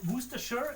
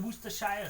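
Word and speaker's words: Worcestershire: I like it explanation video where one time say Wooster sure and then Woo Shia. So like that's for nothing. I guess. Yeah. Well, it's like dialect. I think both are correct ways to pronounce it.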